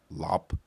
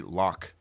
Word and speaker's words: Loc: I mean, now like I'm growing up, I like my Asian name better, which is actually pronounced Lop. Oh, But people used to say Loc or Loc, and I used to hate it.